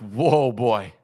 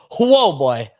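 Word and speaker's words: Huobi: exchanges and uh so I think it's pronounced whoa boy yeah whoa boy uh also potentially being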